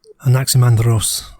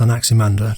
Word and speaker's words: Anaximander: Anaximandros, I think otherwise pronounced Anaximander, described a period whereby